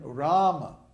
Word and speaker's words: Rama: And then in Rama, the first A in Ram is long, so it's held for 2 beats. Ram. And then the A in the Ma is short, so it's Rama.